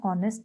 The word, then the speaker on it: honest: Then we use with a word beginning with H but not sounded, means H is silent here, like an honor, an R, an honest man.